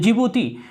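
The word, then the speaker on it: Djibouti: जिबूती, ये डी जो है साइलेंट हो जाता है, ठीक है ना।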